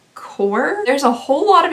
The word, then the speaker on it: Corps: pronounce this word because I really want to say corpse, like as in a corpse. But no, I think it's actually supposed to be core.